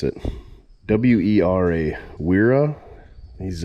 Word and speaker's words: Wera: And the key to doing this is these are, I don't know how you pronounce it. W-E-R-A, Wera.